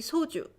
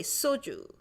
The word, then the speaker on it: 소주: It should be 소주. But people will say soju.